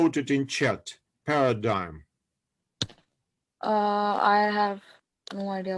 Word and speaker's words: paradigm: of science so this they pronounce it paradigm okay paradigm this is uh in russian we say paladigma this is just a little bit different yes pronunciation okay so this was